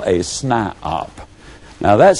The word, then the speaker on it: SNIOP: toe, and they become what I call a SNIOP. Now that's spelled S-N-I-O-P.